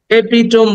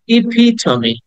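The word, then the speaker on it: epitome: And 58 is এপিটম বলি আমরা এটাকে, এপিটম, কিন্তু আসলে এপিটম না, উচ্চারণ হবে ইপিটমি, ইপিটমি, সেটা ই সাউন্ড আছে, ইপিটমি।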